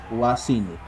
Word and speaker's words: wasini: Entonces, la Y es pronunciada, digo, la Y es muda. Se escribe, sí, Wasini, pero no se lee Wasini, sino se lee se pronuncia, perdón, Wasini, ¿ya?